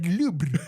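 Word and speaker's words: Louvre: Sí, no se dice lubre, se dice lubre, ¿no, licenciado?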